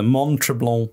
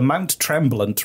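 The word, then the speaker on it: Mont Tremblant: french oh god okay the montreblanc resort that's not bad i think i've been practicing the mount tremblant resort sorry i said it right the first time i know the second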